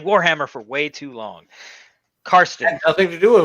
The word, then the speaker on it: Carsten: Carsten.